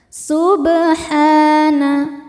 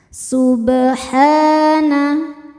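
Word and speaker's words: سُبْحَانَ: Subhana sub. Ba sukun dihukumi qalqalah sugra karena ada ba sukun yang sukunnya ini sukun asli dan berada di tengah bacaan. Cara bacanya dipantulkan dengan pantulan yang kecil. Subhana.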